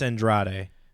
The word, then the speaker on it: Andrade: Can't pronounce the whole Edward thing. James Olmos. I love it. All right, it's Andrade.